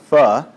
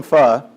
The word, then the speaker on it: pho: so I ordered some some is how it's pronounced as I'm told pho is incorrect phuh I ordered some pho he comes to the